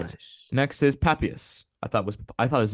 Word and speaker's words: Papias: Next is Papias. I thought his name was Papias, but it's actually Papias, so that's cool.